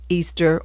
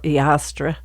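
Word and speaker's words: Eostre: E capital E O S T E pronounced Easter or Estra.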